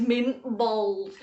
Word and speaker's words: Mint Balls: uncle joe and his mint bowls and you have to say bowls because that's how they say it in wigan uncle jaws mint bowls